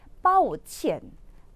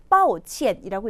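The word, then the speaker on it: 抱歉: 그래서 얘는 빠오첸, 빠오첸이라고 읽히는 거거든요.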